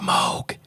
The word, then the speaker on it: Moog: says in the song it's pronounced Moke it's a synthesizer it